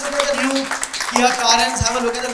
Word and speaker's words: Carens: So guys, Kia has come out with a new car and it's pronounced as Carens. Carens. Carens. Not Karan, not Kiran, not anything else. Very simple. Carens.